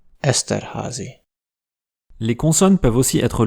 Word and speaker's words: Esterházy: aussi, vous pouvez croiser des Y tout seuls dans des noms de famille, auquel cas ils se prononcent simplement [i] : Esterházy.